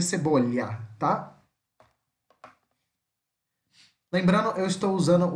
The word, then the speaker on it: cebolla: Uruguai, Paraguai, essa região, vai ter um som meio puxado isso aqui, como se fosse um X, cebolla, cebolla, né? Mas no resto do mundo que fala espanhol vai ser cebolha, tá?